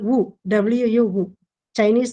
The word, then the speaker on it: Wu: She is called Wu, W-U, Wu. Chinese names are a bit difficult to pronounce.